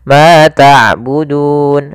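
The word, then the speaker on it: تعبدون: disukunkan ada huruf mad Ya ituu berupa huruf wau maka panjangnya du di sini boleh dua harakat boleh empat harakat boleh en harakat boleh ma tabudun dua harakat mabud harakat boleh pula En harakat kita coba ulangun kemudian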